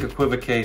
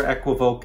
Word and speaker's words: equivoque: equivoke in that video there's about three different ways that people say this word if you ask siri how to say it she'll say equivoque i think equivocae sounds a lot better